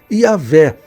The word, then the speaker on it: Yahvé: como está no hebraico, que a pronúncia mais próxima é Yahvé.